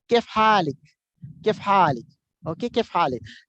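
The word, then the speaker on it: كيف حالِك: you have to say Kef Halik. Kef Halik. Okay, Kef Halik. In Imarat, you will hear they will say kif halij. Means instead of ik they say ich.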